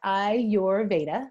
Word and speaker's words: Ayurveda: or less yeah so it is our Veda Ayurveda that's the way you can pronounce it or remember is the